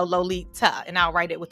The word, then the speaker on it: Lolita: i tell folks that my name is lolita with a t like pronounce the t so lolita and i'll write it